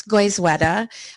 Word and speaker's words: Goizueta: goal tonight is to help you learn to pronounce goizwetta and we'll do a tutorial on that later